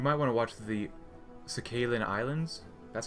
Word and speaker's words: Sakhalin: Oh, and you might want to watch the Sakhalin Islands. That's how you pronounce it.